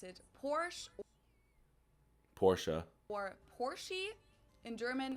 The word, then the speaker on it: Porsche: one it's located in Germany I've heard Americans pronounce it Porsche Porsche or Porsche in German or she push